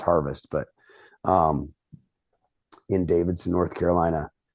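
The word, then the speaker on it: Härfest: And so yeah, Harvest Coffee Company, HAERFEST, Harvest Coffee Company. It's pronounced Harvest, but in Davidson, North Carolina.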